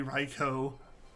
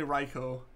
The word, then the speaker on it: Raikou: here with your losses it is and always will be raikou agreed agreed like it's definitely raikou Congrats to them I'm